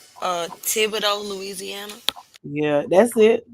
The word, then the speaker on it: Thibodaux: So Nickel State is in, and I'm hoping that I'm pronouncing this correctly. Thibodaux, Louisiana. Yeah, that's it. Thibodaux, Louisiana.